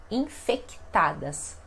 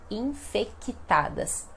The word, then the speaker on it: infectadas: dia diariamente dia a dia e vejamos esta pronúncia então infectadas infectadas nós quando temos essas consoantes que deveriam ser